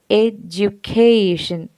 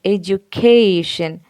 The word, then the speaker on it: education: So when we say education, education, education, the primary stress falls on the third syllable, cation.